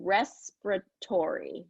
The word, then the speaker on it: respiratory: So yeah, respiratory is kind of, how it would, I think you might have pronounced it, but it gets reduced. a little bit. So respiratory, respiratory.